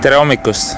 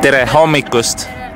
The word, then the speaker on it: Tere hommikust: Tere hommikust. One more time. Tere hommikust.